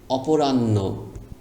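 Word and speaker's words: অপরাহ্ন: ন বাকি আছে নকার ন মধ্যান্য মানে দুপুরবেলা অপরাণ্য অপরাণ্য সরে অপ অপ রকাররা নরান নকরণ রান্য অপরাণ্য পূর্বান্য, মধ্যান্য, অপরাণ্য।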